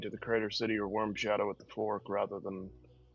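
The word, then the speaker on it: Wyrm Shadow: Durgens worms or W Y RM? I might be mispronouncing it cuz I'm weird. No, it's it's pronounced Worm Shadow.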